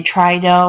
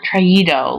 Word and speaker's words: traído: This is to maintain pronunciation. We don't want it to say trido or leido or oído. We want traído, leído, oído.